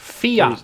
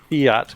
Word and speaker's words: fiat: of an extended conversation do you want a pronunciation correction yes fianc their fiat currency thank you fiat currency I'll try to